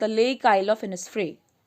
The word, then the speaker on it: Innisfree: Secondly इनिसफ्री पढ़ा जाता है, आइनिसफ्री नहीं पढ़ा जाता है।